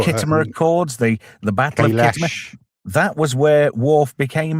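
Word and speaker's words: Khitomer: Well, Sam actually pronounced Kittimer wrong. She said Kitomar. That was it, Kitomar.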